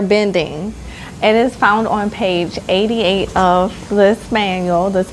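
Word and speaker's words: plié: going to go over from this book is pa. Okay. So, I wrote out the word plea and pa means to bend, bent or bending. It is found on page 88 of this manual, this book, and it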